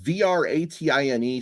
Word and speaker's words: Vratine: Yeah, it's spelled V-R-A-T-I-N-E. So I'd say Vratine.